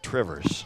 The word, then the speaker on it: Two Rivers: Because in Wisconsin, we pronounce it Trivers. Went to college with a guy that was from Two Rivers. Said, no, you don't. It's one word kind of smushed together. It's Trivers.